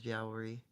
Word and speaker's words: Yahweh: The original pronunciation of Yahweh was Yowery.